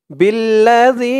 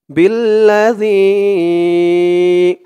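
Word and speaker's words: بِالَّذِي: আলিফ টান মধ্যে মুনফাসিল বিল্লাযী জালের উচ্চারণটা একদম নরম পাতলা করতে হবে জিহ্বার মাথা উপরের দাঁতের মাথার সাথে লাগবে জালের উচ্চারণ করার সময় বিল্লাযী আমানু বিল্লাযী উনজিলা ইকফা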